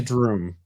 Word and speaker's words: Droom: doom and went to went right to droom okay rhymes with broom uh drum broom groom